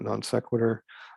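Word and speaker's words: non sequitur: so letter d non-sequitur so that's how you pronounce that non-sequitur the root of the word right from latin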